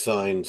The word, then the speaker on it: Saenz: It was my last name is Saenz, pronounced Signs.